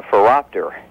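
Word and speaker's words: phoropter: in the eye doctor's office is called a furopter what happened well that would hurt a raptor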